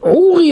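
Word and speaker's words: עורי: Alors, Ouri, Ouri, l'accent tonique, dans les deux premiers Ouri, Ouri, il est mis sur le ri.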